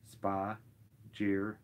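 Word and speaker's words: spagyric: termed spudgy ryx by Paracelsus the word spheric pronounced spa jeer it is derived from the Greek word meaning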